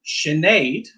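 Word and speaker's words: Sinéad: In the dialect I would use in Northern Ireland, I would pronounce this Siobhan. Siobhan. So that can alter depending on your dialect. This one, Sinead.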